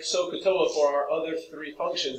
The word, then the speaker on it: SOHCAHTOA: you have heard of SOHCAHTOA. Say it with three different syllables, because that S-O-H stands for a very specific definition.